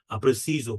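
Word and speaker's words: preciso: এদিকে দেখেন যে আপনার প্রেসিজো পর্তুগিজে প্রেসিজো এটা জ এর মত উচ্চারণ হচ্ছে কিন্তু স্পানিয়াল অর্থাৎ স্প্যানিশে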